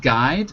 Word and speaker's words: guide: But if it's a word from Italian or Latin, right, it would not be pronounced like guide. Okay, so guide, you wouldn't say the U.